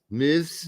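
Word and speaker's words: Meiwes: Muse case in Germany the Arman m m Miz is how you pronounce it in German and he had uh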